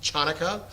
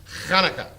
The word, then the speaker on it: Hanukkah: Also spelled with an H or a CH, but it is the word, that's again, there's a note in there about the guttural, not ha, not Chanukah, not Hanukkah, Hanukkah.